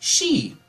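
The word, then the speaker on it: し: The number four can be pronounced she. It's like the same. It's like the same as saying death.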